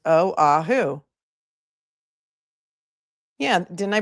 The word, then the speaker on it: Oahu: Oh, thanks Angie for sending me a whole Aahu is pronounced oahu.